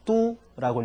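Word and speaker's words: 都: 그런데 수도 혹은 도시라고 하는 명사가 쓰일 때는 또라 안 읽어주고 그건 뚜라고 읽어 줍니다.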